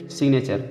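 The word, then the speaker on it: signature: जैसे सिग्नेचर, सिग्नेचर में देखिए वही साइन से ATURE जोड़ के सिग्नेचर बना, लेकिन बीच में आने के नाते जी से गा पढ़ा जाएगा, एन से ना पढ़ा जाएगा, सिग्नेचर।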